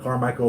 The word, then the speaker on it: Carmichael: And Carmichael is spelled just like it sounds, one word, Car, C-A-R, Michael, M-I-C-H-A-E-L, California, 95608.